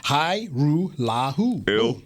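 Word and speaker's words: Hajrullahu: It's really, once you just, I just spell it out phonetically. Hairularu.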